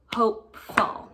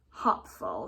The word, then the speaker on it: hopeful: and then the e we do have the e that tells me that this word is going to make a long Oh sound hopeful here the o hopeful it's not a short o we know that our short o sound is aa right it's not hop full or hopeful and just hopeful with that long o sound so we're gonna work